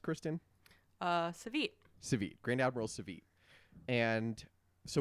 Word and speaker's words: Savit: And we talked a lot about it when we read Thrawn Treason, because treason, and Grand Admiral Savit, how was it pronounced, Kristen? Savit.